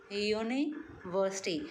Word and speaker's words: university: Because the university, when we pronounce this word university, U sounds like Y. University.